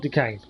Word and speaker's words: Duquesne: Oh, this is Duquesne. This is the one you mentioned before, and I was saying it completely wrong, wasn't it? Yeah, okay. Fort Duquesne.